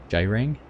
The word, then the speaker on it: Gerang Gurang: on my pronunciation so even though it starts with the G that's it's not g range urang it's yaring or j-ring I think j-ring a ring it's a j it sounds like it's B